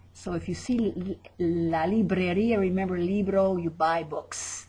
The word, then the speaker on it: librería: La librería. La librería. And we see the little accent over that I at the end, like cafeteria, that makes us pronounce it at the end.